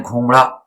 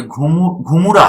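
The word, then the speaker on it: घुमुरा: अगर आप सोच रहे हैं घूमड़ा, तो घूमड़ा नहीं है, ये घूमुरा है। घूमड़ा ये राजस्थान वाला नहीं है, ये नृत्य अलग है। इसमें उच्चारण देख लें, घूमुरा है।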